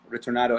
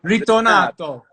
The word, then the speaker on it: Ritornato: I want to get into Ritornato, and forgive me if I'm pronouncing it. How do you say it properly? Ritornato.